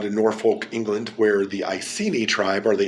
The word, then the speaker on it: Iceni: norfolk england where the icini tribe or the ikini if you want to pronounce the c as a k like in kelt and salt were and